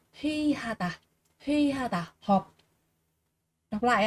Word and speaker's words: 회의하다: ấy, đứng sau ạ, đứng sau một cái từ nào đó thì sẽ được đọc là y, nếu mà nó đứng trước thì sẽ đọc là ơi các bạn nhé.